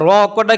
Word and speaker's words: ر: কিরকম দেখেন দাল জাল একটু বেশি বাঁকা আর রকটা কি হালকা বাকা বলেন র এই অকটার নাম